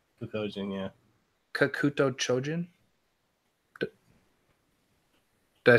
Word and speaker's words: Kakuto Chojin: It's actually Kakojin. Kakojin, yeah. Kakuto Chojin?